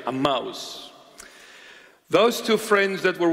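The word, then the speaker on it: Emmaus: those two friends were walking to aous a that's a proper pronunciation a mouse those two friends that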